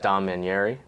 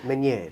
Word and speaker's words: Maneri: So, I'm sitting here with Dominari. That's how you pronounce your last name. Maner. Maner. Sorry. I made it I made it very Italian in the way that I pronounced it. Maneri Maneri uh